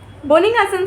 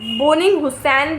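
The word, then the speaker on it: Bönninghausen: Early repertory, जिसमें आएगी Hahnemann sir की रिपोर्टरी, बोनिंग-हसन सर की, बोनिंग-हुसैन भी बोलते हैं बहुत सारे लोग, लेकिन करेक्ट प्रोनाउंसिएशन है बोनिंग-हसन।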